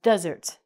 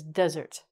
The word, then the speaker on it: desert: So a land of sand is called a desert. The accent is on the first part of the word, and it's two syllables. So this word is desert.